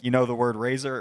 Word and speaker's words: Fraser: you know the word Razer it rhymes with razor Brendan Fraser has anyone